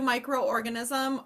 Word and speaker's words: microorganism: micro if you do micro organism I do note that you have to pronounce both of these okay so you don't want to make a weird vowel team in the middle microorganism um and then